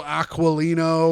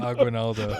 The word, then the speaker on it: Aguinaldo: I'm also going to be playing Emilio Aquilino or whatever his name is. What was his name? Aguinaldo.